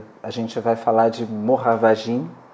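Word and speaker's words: Moravagine: Como exemplo, a gente vai falar de Moravagim, a pronúncia certa seria Moravagim, do Blaise Cendrars, que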